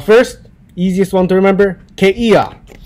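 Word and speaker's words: kēia: easiest one to remember keiia there is no okina when you write out but the native speakers pronounce it as there is an okina there so they pronounce it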